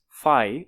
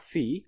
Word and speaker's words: φ: The golden ratio often written as this character or this character pronounced as five not fee.